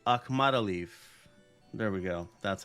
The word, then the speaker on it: Akhmadaliev: Oh, speaking of fully out, Morojan let me pronounce this correctly, Akhmadaliev.